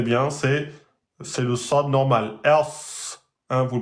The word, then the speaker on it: ص: Il faut rentrer un peu plus la langue, la soulever plus vers l'arrière et prononcer d'une emphatisation.